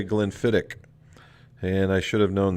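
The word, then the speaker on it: Glenfiddich: it said you know it's spelled glen fetich but they spell they say glenn fittick and i should have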